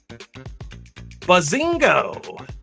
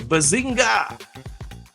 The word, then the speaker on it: Bazinga: Bazingo! I'm sorry, Bazinga! I didn't say it right.